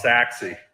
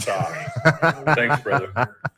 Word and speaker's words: Sachse: Ryan I'm also Ryan it's sexy not sorry I love this new